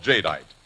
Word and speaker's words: jadeite: But nowhere is this better exemplified than in the creation of a new kind of dinnerear called jadeite, and it's spelled j a d e i t e.